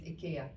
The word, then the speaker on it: IKEA: is it sorry no apparently the proper way to say is ikea but no one ever